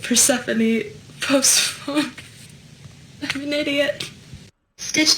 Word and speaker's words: Persephone: But I used to say phosphorone because I only ever read it and I never heard anyone say her name.